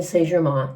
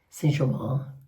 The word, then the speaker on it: Saint-Germain: And Saint-Germain. I don't pronounce the N.